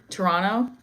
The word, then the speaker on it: Toronto: The second T is silent. Toronto.